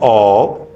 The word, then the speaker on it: of: Kind ऑफ sentences. OF का pronunciation होता है ऑफ, और OFF का प्रोनाउंसिएशन होता है ऑफ.